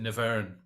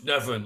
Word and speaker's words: Nevern: I pronounced it Nevern. Yes. I was trying to posh him up a bit. Yeah. No. Never. And he went, it's Nevern, like heaven.